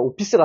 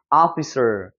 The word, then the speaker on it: officer: 그래서 오피스가 사실 아니에요. 확인해 보면 officer, 아 발음처럼 나는 거예요.